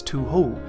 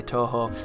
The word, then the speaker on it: Touhou: which is something that i used to pronounce as to who for some reason because i don't know how to pronounce that word but i have it on good authority most people say touhou and that's what it